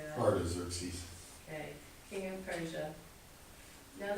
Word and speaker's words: Artaxerxes: Artaxerxes.